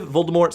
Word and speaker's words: Voldemort: a French like derivative Voldemort supposed to have the word death in it more so don't pronounce the T either way I'm still